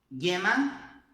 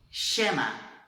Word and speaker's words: llama: Acompanha comigo como que a gente pronuncia essas palavras, então, na Espanha. Yo, llama, ayuda. Yo, llama, ayuda, ok? Se fosse na Argentina, a gente falaria yo, chama, ajuda. Yo, chama, ajuda, ok?